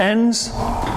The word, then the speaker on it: Enns: pronounce his last name it's enns Peter ends this would be how I would pronounce it Peter ends is a